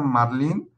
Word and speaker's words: Marlin: Marlin, que se pronuncia marlín, es el pez más